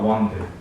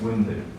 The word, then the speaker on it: wounded: The pronunciation should be wounded. It's not wounded. It's wounded.